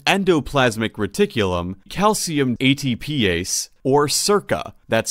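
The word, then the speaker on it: SERCA: as sarcoplasmic and endoplasmic reticulum calcium atpa or Circa that's spelled s e r CA calcium ATP p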